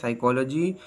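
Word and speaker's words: psychology: देता जैसे autumn hymn silent P पी इज not pronounce at the beginning of many word using the suffix size and न्यू बहुत से अल्फाज के शुरू में जिनमें साइज न्यू इस्तेमाल हो पी आवाज नहीं देता जैसे साइकोलॉजी Fino pneumonia next flat S एस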